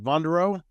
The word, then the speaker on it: Vonderau: before we start off I want to make sure I'm pronouncing your last name right vondo that's it that's it you're one of the few that has gotten it right so well it's very French right uh Louisiana it's actually